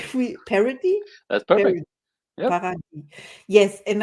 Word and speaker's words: Paradis: today's guest is Andre parody he said we parody that's perfect par yes and I love that name so much so I can pronounce it the whole day long I am